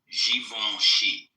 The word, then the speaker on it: Givenchy: Givenchy. I like that. I have heard it pronounced that way.